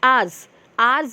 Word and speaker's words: hours: So if you pronounce ours means H is silent, where H is silent. How you will pronounce ours?